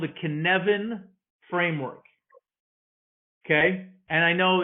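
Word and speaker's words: Cynefin: a framework called the kinevin framework okay and i know it's not phonetically how it's spelled so it's phonetically it's synephen but the term is welsh in in the welsh language it's pronounced connevin and the person who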